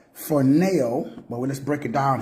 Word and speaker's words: phroneo: We'll get the correct pronunciation. I think it's phroneo, but let's break it down here.